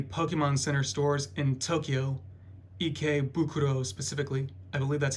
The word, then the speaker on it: Ikebukuro: Yeah, I actually got these at one of the Pokemon Center stores in Tokyo, Ikebukuro specifically.